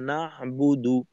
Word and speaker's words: نعبد: একটা হলো ইয়াকা নাবুদু, ইয়াকা নাবুদু, তো এখানে নুনে আমি একটু জোর দিয়ে তারপর উচ্চারণ করলাম ইয়াকা, ইয়াকা, এইটুক পড়ার মাঝে আওয়াজের উচ্চতা একরকম। ইয়াকা নাবুদু, নাবুদু, নুনে আওয়াজের উচ্চতা হালকা একটু বাড়ানোর মাধ্যমে আলাদা করলাম নাবুদুকে।